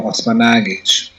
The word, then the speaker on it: Osmanagich: I must say that I appreciate you pronouncing my last name correctly it is indeed Dr Sam osmanage and you asked me